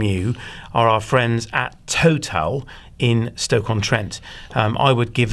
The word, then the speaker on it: Towtal: not far from you are our friends at Total in Stoke-on-Trent. I would give them a call and speak to them. It's spelt TOWTAL.